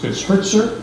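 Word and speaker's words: Hirtzer: It's a correction, it's Hertzer, it's spelled H-I-R-T-Z-E-R, for the agreement.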